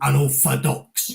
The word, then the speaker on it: Unorfadox: So that's why it's called Unorthodox, Yeah. South East London, you don't pronounce the T and the H, Exactly.